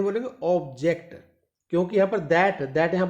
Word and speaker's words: object: तो ऑब्जेक्ट नॉट ऑब्जेक्ट, तो answer क्या रहेगा यहां पर आपका? एज a verb. चलिए नेक्स्ट, फिर यहां पर देखिएगा, what is that ऑब्जेक्ट? ऑब्जेक्ट, आप इसे ऑब्जेक्ट नहीं बोलेंगे, ऑब्जेक्ट, क्योंकि यहां